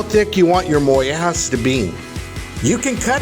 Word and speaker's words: mollejas: bread is of course moas and the Double L is pronounced like the letter Y and the J is pronounced like the letter H although organ meats are